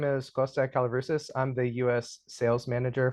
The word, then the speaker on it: Kosta Kallivrousis: Joining me for this series is Kosta Kallivrousis.